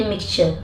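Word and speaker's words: mixture: मिक्सचर टी के बाद अगर यू हो तो इसका प्रोनाउंसिएशन भी च होता है, जैसे मिक्सचर, ठीक है।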